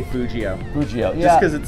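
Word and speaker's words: Fugio: way to pronounce that some people pronounce a little bit differently I I say the soft G I say Fujio Fuji oh yeah cuz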